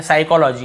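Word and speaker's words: psychology: प में पहुंच गए एस से पहले प आए तो पी साइलेंट होता है तो देखिए एस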